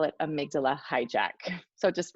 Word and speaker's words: amygdala: I know that we've talked, you did a little professional development in our building before, and you've talked about amygdala hijack.